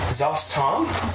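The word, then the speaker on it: Szass Tam: Zostom, he's here, I'll spell it for you. It's SZASSTAM.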